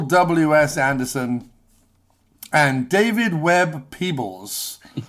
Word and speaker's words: Peoples: Anderson and David Webb Peebles. It's spelt Peoples, but I have it under good authority that him and his wife, I believe Janet, who I believe wrote Blade Runner, that they go by Peebles, I believe.